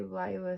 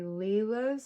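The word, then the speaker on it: Lila's: I believe that people used to say Laya Studio, but it's actually Leela's studio.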